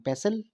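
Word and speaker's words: pestle: Mortar and पेसल, ये T silent यहाँ पे, कुंडी डंडा.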